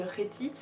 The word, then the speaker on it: Kheti: Par exemple, là je vous parle de Réti, mais vous entendez un R, alors qu'en vérité ça s'écrit K-H-E-T-I.